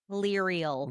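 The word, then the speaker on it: Lirael: How How' you pronounce the friend's name again? Liel.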